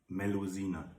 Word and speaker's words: Melusine: Melusine.